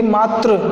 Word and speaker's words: मात्र: आगे देखिए, मात्र जिसका अर्थ होता है केवल, एक होता है मातृ, उच्चारण भी अलग अलग है।